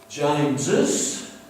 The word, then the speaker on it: James's: James's, we say the second S, therefore we write it.